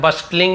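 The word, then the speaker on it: bustling: बस्टिंग around, यहाँ पे L silent, बस्टलिंग नहीं बोलेंगे, बस्टलिंग अराउंड ऐसे बोलते हैं। तो बस्टलिंग अराउंड, यहाँ पे टी साइलेंट आता है, बस्टलिंग ऐसे नहीं, ठीक है।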